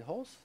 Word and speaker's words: Hulse: All right, so the next person I have is Hulse. And did I say that right, the last name? Absolutely. Okay, good. Rhymes with pulse.